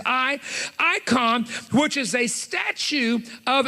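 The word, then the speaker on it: εἰκών: icon it's spelt in greek e-i-k-o-n the e-is pronounced i icon which is a statue of another person a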